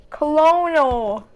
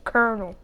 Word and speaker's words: colonel: Colonal. Oh, it's Colonel.